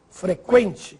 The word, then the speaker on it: frequente: Agora preste atenção nestas palavras. Que, frequente, sequestro, delinquente. Agora sim, você ouviu o som da letra U.